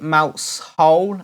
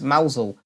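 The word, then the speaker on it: Mousehole: I asked the crowd is it mouse hole as its spout or as Mosel and they all shouted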